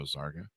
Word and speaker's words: Zarqa: welcome to the show zarga thanks a lot chris and have i got all the pronunciations of everything there right there's a lot of yes zarco rhymes with parka there you go all